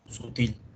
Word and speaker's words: sutil: Sutil. O sea, la mayor fuerza de voz está aquí al final.